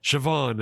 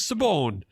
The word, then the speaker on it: Siobhan: our language goes and this is pronounced Siobhan. And the English were like oh no it isn't. that says Sabone and it's like nope.